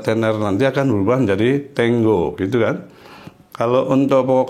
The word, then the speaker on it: tengo: Ini tulisannya tengo kalau kita ya, tapi ini bacanya tengo. Seperti seolah-olah ada double G-nya itu tengo ya, jadi bukan tengo, tengo gitu ya.